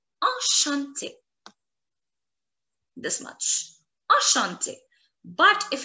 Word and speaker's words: enchanté: However, the pronunciation in both the cases is going to be the same.